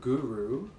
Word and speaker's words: Guru: Instead of Guru, Guru, which is how most people would first pronounce that word, and I've heard it. The word Guru, as people pronounce it, is used all around, not even in yogic traditions anymore. But we pronounce it Guru with that short rolled R.